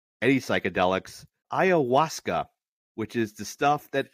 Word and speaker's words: ayahuasca: And not just like any psychedelics, ayahuasca, which is the stuff that Aaron Rodgers is using.